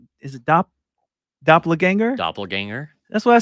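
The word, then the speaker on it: doppelgänger: like uh doppler is a dop doppler ganger doppelganger that's what i said i said that earlier he said i said it wrong well you would you would just you said dapla yeah you did you doppler no no no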